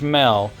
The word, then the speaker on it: Shmel: Apparently, I looked it up, and it says it's pronounced Shmel. But I'm going to say Shamel.